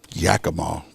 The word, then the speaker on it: Yakima: Yakima.